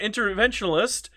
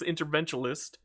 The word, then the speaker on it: interventionist: And I failed my interventional uh interventionalist. I keep calling it inter interventionalist and it's not. is interventionist.